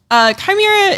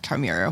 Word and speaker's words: Chimera: Chimera is... Oh, see, I'm pronouncing it wrong. Chimera. I mean, there's a couple of different ways to pronounce it.